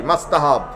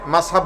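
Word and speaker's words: مستحب: উত্তরে ওয়ার্ড একটা বলি মাস্তাহাব অনেক হুজুর এটারে মাসহাব বলেন। দরকার কি? মাস্তাহাব বলেন। টি তো একটা আছে। অনেকে টি উচ্চারণ করে না।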